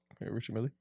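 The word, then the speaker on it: Richard Mille: fake can you help me out with the pronunciation of this is Richards Millie Richard Millie yeah Richard Millie to ex label CEO so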